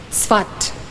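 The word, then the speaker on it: Safed: down but it is spelled s-a-f-e-d but it's pronounced svat he arrived in the city of svat in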